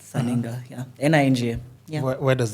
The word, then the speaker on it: Sirr Ninga: Yeah, the name is Sirr Ninga, the way it is on the socials, the way it's written, the way it's pronounced, Sirr Ninga, yeah.